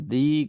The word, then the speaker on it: the: yaitu the terus kemudian cara baca D itu ada dua kadang dibaca dzi kadang dibaca D dia dibaca the kalau diikuti suara konsonan dia dibaca di ketika diikuti suara vokal Oke Seperti yang saya